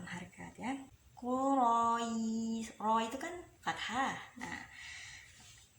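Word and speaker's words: قريش: Jadi cuma ngikutin Quraish, tapi dibacanya sampai 4 atau 6 harkat ya. Quraish. Ro itu kan fathah. Nah, kemudian bertemu sukun aridi, ketemu ya Quraish, Quraish.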